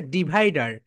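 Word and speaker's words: divider: এর উচ্চারণ করে না ব্রিটিশরা শেষে আর থাকলে আর এর উচ্চারণ করে না ব্রিটিশরা এটাকে বলবে ডিভাইডা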